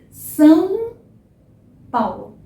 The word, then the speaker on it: São Paulo: São Paulo. Não tenha medo de ser nasal. O som é nasal, tá? É nasal.